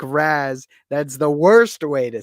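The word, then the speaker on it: Ra's: arabic according to him it's supposed to be pronounced like rhetts uh but it's a comic book and in reality we can say it however the we want i say it like raz don't say it like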